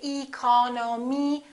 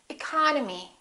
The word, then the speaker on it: economy: did with these words look at the first word economy the second syllable is stressed therefore this e and this o are reduced we don't say e col no me we say economy economy look at this one